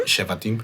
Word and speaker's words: Shevatim: Shiva, how do you say it again? Shivatim? Shevatim. Shevatim. Okay.